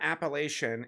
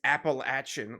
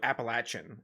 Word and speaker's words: Appalachian: And I remember my teacher, who was a cool guy, he was like, just remember, it's not Appalachian, it's Appalachian, like almost throwing an apple at you. So Appalachian is how you say it.